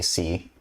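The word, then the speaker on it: χ: to draw it wrong I think C or I I have to pronounce it Kai but I hear every the math streamers say C probably going to like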